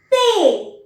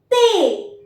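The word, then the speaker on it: thé: इज ते ते again I have put a cross below द alphabet H because majority of द time this uh this H alphabet is silent we write this alphabet but वी डू not pronounce it सो द word become ते एंड it means T द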